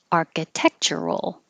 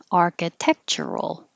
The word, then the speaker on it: architectural: Architectural. You can say this with all the syllables, architectural. Or make it a little shorter and push the churl together to shroll. Architectural, architectural.